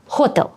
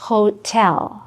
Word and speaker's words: hotel: Всі їздять до hotel. А це hotel.